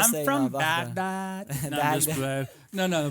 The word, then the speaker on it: Baghdad: Um you know, and it's something that Not to interrupt you, but I was told it's pronounced Baghdad.